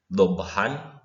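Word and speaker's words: ضبحا: Kalau kita lihat di tabel warna biru nih tulisannya dhabhan, tapi dibacanya kita dhabha. Kita mengganti tanwin dengan fathah saja. Asalnya dibaca han, menjadi dibaca ha saja.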